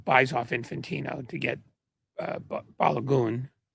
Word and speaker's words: Balogun: Trump basically buys off Infantino to get Balogun, which is how it's supposed to be pronounced. That is Balogun. That's what we decided it was.